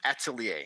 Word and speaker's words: atelier: tuition but uh it's it's just atelier so the french term actually a is just a word for studio a